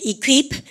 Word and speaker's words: equip: 토익시험 나온 것 중에 E로 시작한 단어 중에서 이거 발음 Q입니다. 발음해볼까요? equip.